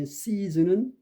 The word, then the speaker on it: season: 그 다음에 이제 S 철자인 season은 앞에 있는 S는 S 발음이 나고 그 중간에 있는 S는 Z 발음이 납니다.